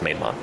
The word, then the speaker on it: Maidment: Susie Maidmont, Maidment, like Maidment, but it's pronounced Maidmont.